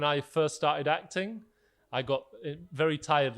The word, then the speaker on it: Gott: name is got um but in my accent I wouldn't pronounce the T I'd say my name is and I so when I first started acting I got very tired like a